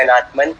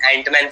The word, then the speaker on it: Anãtman: to this name but you can call me an Earthman I know it's a sensitive with what people